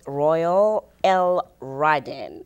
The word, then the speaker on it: Royale L'radin: to say it right Royal L Ryden is the way you say it it's a blessing to